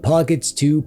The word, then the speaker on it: Pocket S: A while back, I reviewed this, the Ayaneo Pockets. It's pronounced Pocket S.